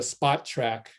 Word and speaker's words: Spotrac: then you go to Spot Track, which is the way it's spelled except without a K, Spot Track, SPOTRAC.